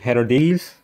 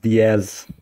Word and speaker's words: Diaz: congrats to them uh third place was her days or it's pronounced diaz so that's third place